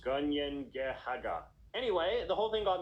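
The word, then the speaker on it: Kanien'kehá:ka: The Mohawk name for their nation, meanwhile, is pronounced Gunyengehaga.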